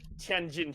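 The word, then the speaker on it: Tianjin: Um you it's now probably um in in the mainland it's actually pronounced tenin chili.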